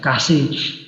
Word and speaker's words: cache: Nah, tapi tadi lalu ini kinerjanya kurang bagus, maka dari perancangan dari arsitektur ditambahkan namanya memori cepat, cache memory, bacanya cache, kasih.